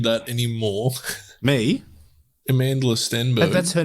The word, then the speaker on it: Stenberg: know you could not have butchered that anymore me amandla stenberg that's her name yeah okay i don't know you i think you you said steinberg no steinberg steven steenberg is a stenberg is